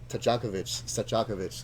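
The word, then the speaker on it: Stojaković: Stojakovic.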